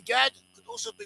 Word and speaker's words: Gad: another form of the name Gad.